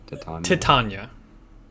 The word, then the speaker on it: Titania: It's, how do you pronounce it one more time? Titania.